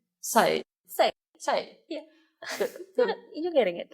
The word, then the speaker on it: Sai: Thank you, Sai. It's still pronounced like Sai.